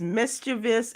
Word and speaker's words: mischievous: it's not mischievous uh three four three or four syllables that's the question three or four syllables which one is it three or four syllables I I mischievous mischievous is the way I learned it but mischieving v i o as opposed to v o u i stand correct and Bingo